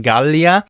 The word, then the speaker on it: Gallia: Now, the G in Latin is also always hard, as in Gallia. It is also hard in the middle of a word. For example, angelus or angulus. The G is always hard.